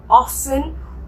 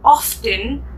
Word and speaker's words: often: now you can see often has a letter t okay which sometimes we pronounce and sometimes we don't like some people say it some people don't so if you hear often or often both are same often